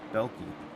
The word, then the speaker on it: Belkey: Had to go grab the pronunciation. It is Belkey.